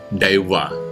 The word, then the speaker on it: Deva: Di dalam bahasa Sanskerta, Tuhan disebut Dewa, atau kalau dalam bahasa aslinya itu diucapkan sebagai Deva. Nah, yang menarik, kata Dewa